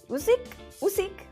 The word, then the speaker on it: Usyk: And it's like at this huge show, Anthony Joshua versus Usyk. Ali is going to, yes, I pronounced it right.